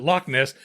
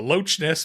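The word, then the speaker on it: Loch Ness: The Lochness Monster okay but they pronounced the CH it wasn't Lochness they called it the Loess monster and I'm like are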